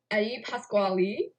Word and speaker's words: Eddie Pasquale: Eddie Pasquale, that's how you say his name, according to the broadcast, was bad.